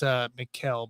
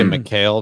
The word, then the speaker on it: Mikal: And It's Mikal, by the way. Mikal. I just say McHale because I remember So, Kevin McHale from back in the day. So I just the say McHale. official Princeton pronunciation has Mikal.